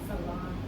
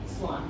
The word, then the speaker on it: Sláinte: Sláinte. Cilantro? No. I'm sorry. I am part Irish. I don't think you're Irish. The Irish people are frowning at you right now. Sláinte. Salon.